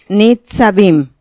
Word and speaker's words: Nitzavim: ya saben cuáles ni ni con se pronuncia ni sabin ok ni está vivo es